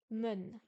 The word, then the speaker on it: 们: Le E et le N se prononcent séparément, comme un en français. Men.